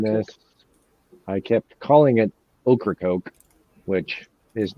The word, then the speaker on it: Ocracoke: Ocracoke. I'm told. Ocracoke. Okefenokee. It's like I'm told that's how we pronounce it. Ocracoke.